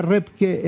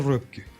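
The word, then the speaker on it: Röpke: de mercado claramente a Repke. Repke, algunos incluso lo ponen como sociólogo. Que se escribe R-O-P-K-E. Claro, con umlaut, con dos puntitos en la. Claro, Wilhelm Repke.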